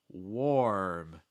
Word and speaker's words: warm: first word here warm warm notice my lips there war or if you could say war like the conflict war um just add an m sound after that warm warm it's